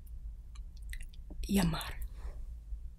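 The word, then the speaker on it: llamar: libre which means book the only exception with l is when there are two of them it becomes more of a y sound such as in the word yammer which is to call and how you would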